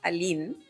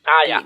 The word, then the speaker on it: Aline: Mi nombre se pronuncia Aline. Lo digo ¿Aline? solo porque nunca lo corrijo. Nunca lo corrijo y la gente me termina diciendo Aileen, así que Aline.